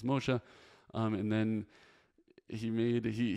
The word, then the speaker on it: Moshe: name a Hebrew the guy's name was Moshe and he said Moshi or something I told him it was mosha and then he made